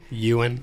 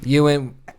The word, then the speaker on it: Ewan: say it right and then the ah poor Ian McGregor in Ewan Ewan dude tomato tomahto Titanic it's all the same